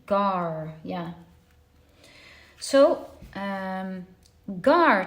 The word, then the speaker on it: Gar: know how to pronounce it the ad the gar ah there we go so it says pronunciation gar yeah yeah so um gar translates to spear